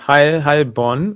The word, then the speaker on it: Heilbronn: Helbronner Super Chat says, good evening to everyone from Helbron, Germany. Did I say that correct? Helbron. Yeah, Heilbronn, I think. That's how you say it.